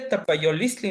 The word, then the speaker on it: tapayolistli: Bueno, es que cuando la pronunció se comió una LI, pero Sí, sí, sí. ya la entendí. Ajá. Eh, en- Dije tapayolistli, ¿no?